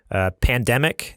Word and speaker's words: PNDMC: just go to super gamer boys dot-com slash pandemic is how you pronounce the collection but it's spelled PN DMC